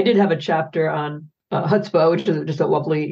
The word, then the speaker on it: chutzpah: So I did have a chapter on chutzpah, which is just a lovely, Yiddish term. Yes. Thank you for pronouncing it correctly.